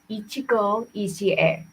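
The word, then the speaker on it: 一期一会: recently learned um now okay in Japanese it's pronounced Ichigo isier it's really difficult to translate it but Loosely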